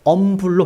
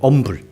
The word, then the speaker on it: humble: 어원적으로 살펴보니까요, 19세기까지는요, humble H가 묵음이었습니다. 그래서 humble로 발음이 돼요. humble.